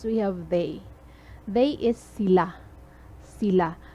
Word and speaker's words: sila: They is sila. Sila. Notice the stress. The stress is very important. Sila. So the stress is at the second syllable.